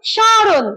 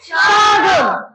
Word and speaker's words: স্মরণ: এখানে এই দন্ত স এবং ম ফলার উচ্চারণ হবে তালব্য স এর উপরে চন্দ্রবিন্দু দিলে যে উচ্চারণ হয় সেইটা। বুঝেছ? উচ্চারণ হবে স্মরণ। কি উচ্চারণ হবে? স্মরণ।